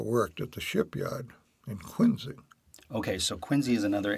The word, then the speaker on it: Quincy: to a Massachusetts family now that the proper pronunciation of Quincy is Quincy and not Quincy even though it is spelt